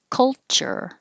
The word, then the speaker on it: culture: Don't worry about any vowel that's between the K and the L because you're moving your tongue from the K position to the L position, cull, and making the L noise. Cull. So it's not really any vowel. Culture, same as vulture.